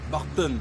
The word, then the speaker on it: Bartın: Ça s'écrit Bartın ou Bartın, mais ça se lit ou ça se prononce Bartın en turc.